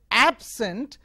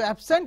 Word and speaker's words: absent: the first cell it is called it is pronounced as absent it is used as an adjective meaning not present if you change is stress on to the second syllable absent to absent yourself that is not to go to place